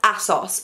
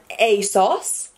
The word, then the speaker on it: ASOS: may not know that I pronounce everything wrong. So I am probably at one point in this video, or multiple, or every single time from now, pronounce Asos as Assos, and it really tickles people's buttons.